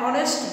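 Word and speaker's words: honest: অ্যান অনেস্ট বয়, an hour, এগুলোর আগে আমরা এন দিয়েছি কারণ এইচের উচ্চারণ হ হচ্ছে না।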